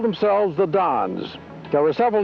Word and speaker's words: Don: They left the YMCA, and they called themselves the Dons. There were several names chosen, the Vaqueros, the Phoenicians, and so forth, but the word Don, D-O-N, more properly pronounced in Spanish, Don, was the name chosen.